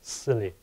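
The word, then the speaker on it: SIYLI: inside yourself Leadership Institute s y l y pronounced as silly silly.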